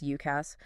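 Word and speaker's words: UCaaS: Then there's UCAS, which we pronounce UKASS.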